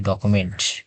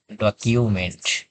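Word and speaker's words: document: এখানে আমরা উচ্চারণ করি ডকুমেন্ট ক এখানে সাধারণত ইউটার উচ্চারণ করি ক এর মত ডকুমেন্ট কিন্তু এটি এই রুলস অনুসারে এটার উচ্চারণ হবে ডকিউমেন্ট ডকিউমেন্ট রসয়ের রসু ডকিউমেন্ট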